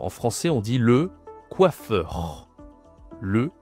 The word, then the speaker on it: coiffeur: Alors en français on dit le coiffeur. Le coiffeur prononciation ici c'est wa donc oublie pas c'est quelque chose comme ça qu donc on a ici quoi quoi ok coiffeur au féminin.